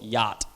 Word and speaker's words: yacht: Every single one of these letters is not pronounced at all. So I say critically, subtle, muscle, yacht, Wednesday, fifth, sign, herb, what, business. Literally almost every single letter in the English language, consonant and vowel, is not pronounced at all in some words.